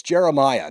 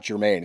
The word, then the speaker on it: Jeremiah: It's Jeremiah, not Germaine."